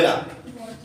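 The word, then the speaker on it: know: এই ক্ষেত্রে কে অনুচ্চারিত থাকে, তার মানে কে এর উচ্চারণ হবে না।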